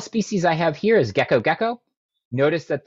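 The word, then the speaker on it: Gekko gecko: i have here is gecko gecko notice that the genus name is spelled different than the species name even though they're pronounced the same sometimes binomial nomenclature doesn't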